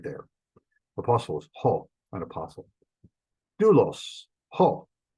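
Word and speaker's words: δοῦλος: Doulos, ho. Doulos, ho, a slave. That is a circumflex over the upsilon, and the omicron upsilon is a diphthong. It's one sound, and it's treated as one syllable.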